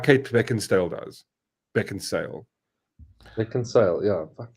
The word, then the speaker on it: Beckinsale: She looks like Kate Beckinsale does. Beckinsale. Beckinsale, yeah. Fuck my life, dude. I thought it was Beckinsdale. There's no D in there.